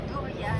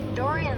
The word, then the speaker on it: Dorian: Dorian Your whole name.